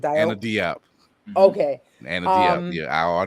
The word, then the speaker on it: Diop: Anna Diop.